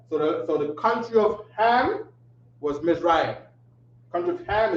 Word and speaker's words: Ham: Or they'll say the land of Ham, which is pronounced Kam.